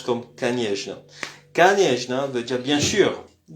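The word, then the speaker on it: конечно: Alors canjna au fait c'est canetna mais ça se prononce comme kanjna.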